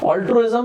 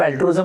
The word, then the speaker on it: altruism: तो उसको actual pronunciation तो ऑल्ट्रुइज्म होता है।